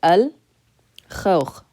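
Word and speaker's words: الخوخ: So if it's a moon letter, we just pronounce it normally. Al, khawkh, al-khawkh, the peach.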